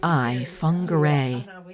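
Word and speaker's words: Whangārei: I begin to learn things like correct Maori pronunciation, such as WH is an F sound, as in the city they're from, WHANGEREI, Whangarei.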